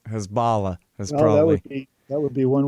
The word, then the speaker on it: Hezbollah: It seems like it should rhyme with Allah, right? Hezbollah is That would be one way of looking at it.